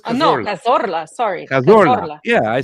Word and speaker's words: Cazorla: Cazarola. See, it says Cazorla. No, Cazorla.